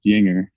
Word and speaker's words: Juenger: I told him to pronounce, almost like take away the spelling and just put like YING-ER. Like that's kind of just how you need to pronounce it.